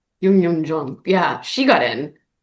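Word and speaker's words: Youn Yuh-jung: Yong J. Is that how you say her name? No. Yun Yun Jun. Yun Yun Jung.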